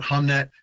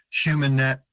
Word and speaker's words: Humnet: stroke over the U you can actually pronounce it three ways so you can pronounce it humet Human net or Humanity like pronounce the ne and so that's really